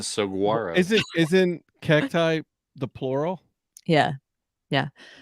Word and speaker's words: saguaro: I also pronounce the G in saguaro.